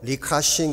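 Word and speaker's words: Li Ka-shing: 노신사 이름이 리자 층이 라고 하는 분입니다 중국 발음으로 리카싱 이라고 발음을 합니다 홍콩 최대 기업인 성큰 그룹의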